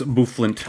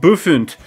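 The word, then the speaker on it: Bouffalant: So, hey, dude who loves Bufalant, I'm sorry for making fun of you, alright?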